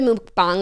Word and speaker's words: mukbang: So I think if you want to be like really like indigenous, you could say mukbang. But like the American version is like we're going harder on the wrong pronunciation.